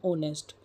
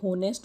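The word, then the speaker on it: honest: abstract nouns are form from adjectives as kindness from kind ऑनेस्टी from ऑनेस्ट दोस्तों इसे हम ऑनेस्ट बोलेंगे ऑनेस्टी बोलेंगे होनेस्ट और होनेस्टी नहीं बोलेंगे यदि आपकी प्रोनाउंसिएशन सही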